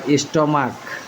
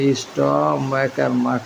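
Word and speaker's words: stomach: নাই কিন্তু মনার এজন্য শুধু এস হইছে আবার স্টমাক স্টমাক উচ্চারণটা হবে স্টমাক স্টমাক তাহলে এটা শুধু এস হবে আরতি ম্যাট্রিয়ার্ক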